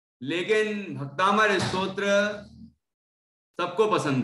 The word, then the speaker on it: भक्तामर: ओम भक्तामर का नाम यह भक्तामर पहले तो उच्चारण ठीक करें कुछ लोग बोलते भक्तांबर बार नहीं है अंबर अंबर धोइए भक्तांबर नहीं है भक्त प्लंबर हो जाएगा पर अंबर का मतलब